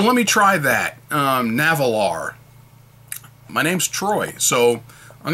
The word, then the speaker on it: Nahvalur: be narwhal to me although i'll try to pronounce it once in a while navalar like i should and if you look at